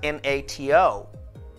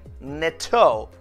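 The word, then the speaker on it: NATO: gonna form a word we would typically pronounce them as a word or like a word that is called acronym foreign a great example is n-a-t-o n-a-t-o will will never be pronounced as n-a-t-o hundred and thousands of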